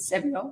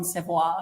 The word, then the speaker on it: Sevior: How did you pronounce it? Sevior. Sevior. My mum calls him John Sevois.